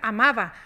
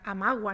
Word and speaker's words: amaba: se escribía así pero se podía pronunciar amaba nadie nunca decía amagua ni nada de ese tipo eso